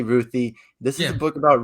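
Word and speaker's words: Ruthye: it repeat uh yeah ruthie that that's what i like ruthie ruthie okay because it's spelled r-u-t-h-y-e-e yeah but it can be pronounced different ways but i say ruthie this is a book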